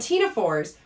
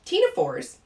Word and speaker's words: Ctenophora: reason that they're called tina fours is that they have what's called teens so again i'm i'm not pronouncing the c it's not teens right i'm just pronouncing the t the c is silent so it is considered 18.